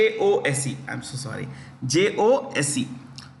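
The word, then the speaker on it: José: Jose. Jose.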